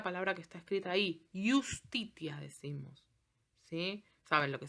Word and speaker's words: justitia: El sonido de la J no existía en latín. Siempre suenan I. Fíjense la palabra que está escrita ahí. Justitia decimos.